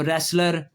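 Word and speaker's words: wrestler: और जब आर आ जाए तब भी डब्ल्यू साइलेंट हो गया, देखें, राइट, रैप, रॉन्ग, उसके बाद जो है वो रेसलर, रिंग, रैथ, बहुत सारे लफ्ज़ हैं WR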